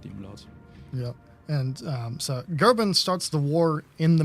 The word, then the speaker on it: Goeben: So a lot of the English people will pronounce it Goeben, but technically it's kind of like an umlaut, so it's Goeben, I think.